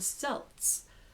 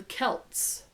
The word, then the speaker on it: Celts: welch and so forth the letter c is always k and celtic is celtic with a hard c so it should be celtic so the so the celts okay so a brief